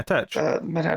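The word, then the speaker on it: Tetch: Yeah, Tech.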